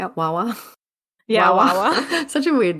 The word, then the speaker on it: Wawa: Yeah, Wawa.